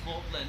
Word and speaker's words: Magdalene: We spell it Magdalene today. We pronounce it Morland.